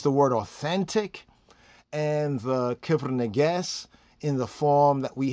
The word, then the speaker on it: Kebra Nagast: The KEBRA NAGAST, I'm going to say it more the Ethiopian way so we can get into the more correct pronunciation.